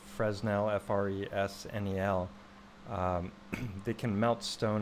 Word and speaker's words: Fresnel: We've talked about Fresnel lenses, or it's spelled Fresnel, F-R-E-S-N-E-L.